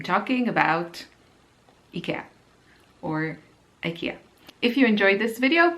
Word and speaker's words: Ikea: rest of the video Ikea because that's how we call it here in Austria and that's how the Swedish people who invented Ikea call it and so I know